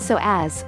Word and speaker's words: psoas: One of the most significant things about the psoas, pronounced psoas, or hip flexors muscle is that it connects the legs to the spine.